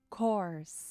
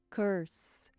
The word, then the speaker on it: course: compro curso cor u aqui é importante pronunciar cor para que a sua pronúncia não seja confundida com Curse Ah tá cur Eu já ouvi alunos falando Curse e Curse é maldição